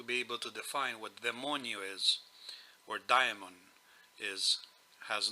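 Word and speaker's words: δαιμόνιον: topic is daimon, or as they pronounce it in Greek, demonio, demonion. Now, whoever professes to be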